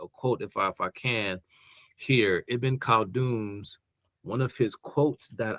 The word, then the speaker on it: Ibn Khaldun: I said his name, Ibn Khaldun.